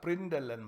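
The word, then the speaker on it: println!: we call it as Prindle and macro we don't pronounce it as println exclamation that's not the way it has to be pronounced like Prindle and macro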